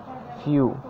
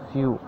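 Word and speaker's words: few: Rule 14, ই এবং ডাব্লিউ একসাথে থাকলে এ দুটি ভাওয়েলের উচ্চারণ কি হয়, এ দুটি ভাওয়েলের উচ্চারণ ইউ হয়। কি বললাম, ইউ হয়। এক্সাম্পল দিলে বুঝতে পারবেন। ফিউ, এফ ই ডাব্লিউ, ফিউ, এখানে দেখুন ই ডাব্লিউর উচ্চারণ ইউ হচ্ছে, বাংলাটা দেখলে বুঝতে পারবেন।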